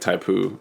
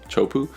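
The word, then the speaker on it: Teahupo'o: I mean like some of the shots of like Taipu, is that how you say it? Taipu? Chopu.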